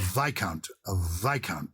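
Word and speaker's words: viscount: oh good grace of vikant ah and how that's spelled v-i-s-c-o-u-n-t it's obviously related to count what was the what would the vis be doing yes that's interesting because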